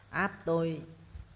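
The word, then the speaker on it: Aptoide: này là app app A P T O I D E đấy, app tôi đó, mình đọc là thế đấy.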